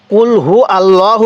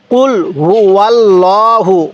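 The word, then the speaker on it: قُلْ هُوَ اللَّهُ: তাহলে কুল হুয় আল্লাহু অনেকেই কুলহু আল্লাহু পড়ি দেখুন এখানে কিন্তু কি লেখা আছে কুল হুয়াল্লাহু ওয়াল্লাহু এই ভুলটা কখনো করবেন না তাহলে কিভাবে পড়বো কুল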